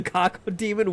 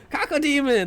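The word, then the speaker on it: Cacodemon: Hi Docj, welcome in me asking with a cocko demon. What the mouth co demon? Stop. What do you mean? Stop saying his name like that. How do you pronounce his name? Kako demon.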